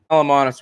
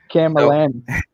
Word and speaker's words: Camallanus: Calamontis worms. I don't know what I missed, what you were talking about. Calamontis. Camallanus.